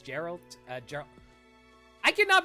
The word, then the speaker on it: Geralt: Oh, Gerald? He said something. Also, I keep pronouncing his name wrong. I know it's Geralt.